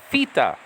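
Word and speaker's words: θήτα: It's pronounced theta. Theta, like F-I-T-A. Okay, for example, theta, not theta. So the modern Greeks don't pronounce the letter, the Greek letter theta like we do. They say theta.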